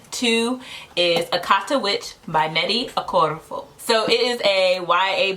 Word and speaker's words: Nnedi Okorafor: All right, so the book that I read, or actually I listened to, is Akata Witch by Nnedi Okorafor.